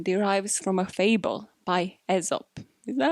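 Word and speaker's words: Aesop: that this expression derives from a fable by ezop is that how i pronounce it yes you know not a soap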